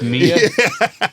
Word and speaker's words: Mia: It's Mia. It's Mia. It's Yeah. I am cultured. I am cultured. you said it's Mia, not Maya.